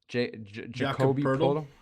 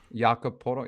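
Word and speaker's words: Jakob Poeltl: Jacoby Podol? Jakob Podol. Yeah, I always get his name wrong.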